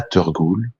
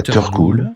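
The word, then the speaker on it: teurgoule: c'est un un mix en fait entre la turgoule qui s'écrit ça s'écrit T e u R Gou le la tur cool ouais donc ça c'est ça c'est le dessert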